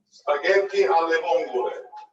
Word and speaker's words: spaghetti alle vongole: So how do you pronounce the name of this dish in Italian? Spaghetti alle vongole.